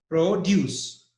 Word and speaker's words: produce: Deus Pro use now and the first one produce so stress is on D you that's a